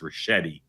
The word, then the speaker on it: Ricchetti: Okay, I will politely and gently tell you his name is pronounced Ricchetti.